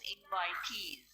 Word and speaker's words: invitees: Yeah, you had to pronounce this as invitees.